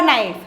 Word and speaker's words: knife: To right K for knife, because even though you pronounce it with the alphabet N, it starts with the alphabet K.